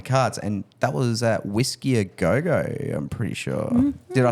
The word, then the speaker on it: Whisky a Go Go: had on the cards, and that was at Whisky a Go-Go, I'm pretty sure.